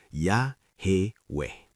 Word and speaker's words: Yahweh: Jika YHWH memang berasal dari akar HWY dalam bentuk kausatif hifil imperfect, maka pola vokal yang dihasilkan secara natural adalah A dan E menghasilkan ya, he weh.